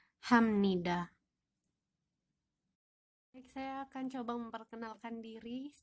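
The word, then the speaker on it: 감사합니다: Artinya terima kasih Nah di sini ada huruf di bawah dibacanya bukan HP tapi menjadi Hamnida Kenapa ini karena ada aturan untuk diet kalau dia bertemu dengan nian maka akan dibaca seperti huruf M ya jadi bacanya Hamnida saya akan coba memperkenalkan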